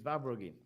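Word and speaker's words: Verbruggen: I just Verbergen. Is that right? Vabrugin. It's Vabrugin.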